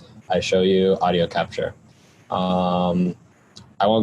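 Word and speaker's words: iShowU: download something it's called i show you audio capture it's spelled i s h o w u like the letter u i show you audio capture um i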